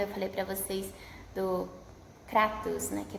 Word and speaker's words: Kratos: Lá eles falam Kratos, porque é em inglês, né? E eles pronunciam o A como E, né? Mas em grego é Kratos com A, porque eles usam um alfa, que tem a mesma som de A para nós.